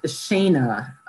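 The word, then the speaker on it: Séadna: them this is called shayna it's spelled s-e-a-d-n-a but it's pronounced shayna because it's a gaelic word so alternate lines of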